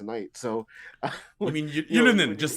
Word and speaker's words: Ylönen: So, You mean when Ylönen? Just say his name. It's Ylönen, and he actually had a good name.